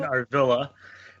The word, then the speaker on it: Arvilla: listening out there well my name is Arvilla the proper pronunciation Arvilla and i'm the founder